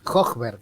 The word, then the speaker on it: Hojberg: La J es como, ahí hay que marcarla bien. Hochberg, así es.